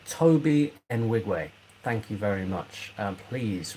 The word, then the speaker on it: Toby Nwigwe: Pronounced Toby Nwigwe.